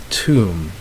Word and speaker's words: tomb: end with M B and if you dropped the B so the B is silent so you have lamb you have comb you have balm you have num yo plum and then you have tomb alright so in all these